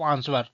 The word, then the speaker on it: answer: तो जो हमारा आंसर रहता है, तो आंसर में जो हमारा डब्लू रहता है, डब्ल्यू हमारा साइलेंट वर्ड है।